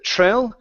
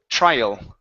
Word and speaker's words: trial: word trial right here instead of tril it's I trial trial okay very nice good